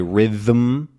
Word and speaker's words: rhythm: Another good example for m is rhythm, right? You can actually say rhythm, right? So which is r, rhythm, like that, which can be pronounced r, I, th, which is like this, and then rhythm.